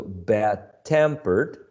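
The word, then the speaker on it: bad-tempered: that sense all right and these uh compound adjectives are stressed on the second syllable bad being the first one temper the second one bad tempered old-fashioned old-fashioned okay or if you prefer um whenever you have a compound adjective you stress the second element on the first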